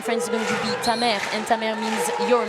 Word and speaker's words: ta mère: Ça va continuer, ça passe pour ta mère.